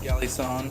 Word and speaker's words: Galison: pronounce it Galison.